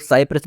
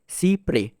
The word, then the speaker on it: Cy-près: इसको कुछ लोग साइप्रेस भी प्रोनाउंस करते हैं। लेकिन इसकी सही प्रोनाउंसिएशन है सी प्रे।